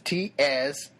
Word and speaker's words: Tsonga: Tsangan people. It's Tsonga. Tsanga. I know the T is silent, but I like to pronounce it anyway